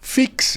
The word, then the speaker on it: FEAX: Fix é escrito com F E A X, né? E a pronúncia, tá aí, tá no rodapé aí, tá aí o nome da empresa. Pronúncia Fix.